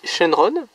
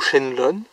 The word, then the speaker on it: Shenron: Je veux dire, c'est clairement celle qui sort le plus du lot, mais c'est Shenron, ou Shenlong, si vous voulez le prononcer ainsi.